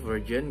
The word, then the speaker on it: Virgin: Akhirnya ada label yang mau menggaetnya, yaitu label Virgin ya, tulisannya Virgin gitu ya, tapi kalau bacanya Virgin gitu.